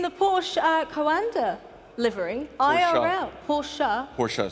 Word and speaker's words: Porsche: Porsche, say it right.